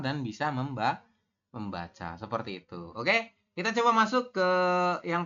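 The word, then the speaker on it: 어: Ya, kemudian ini tulisan Latinnya itu eo ya, seperti ini. Tapi kita bacanya o.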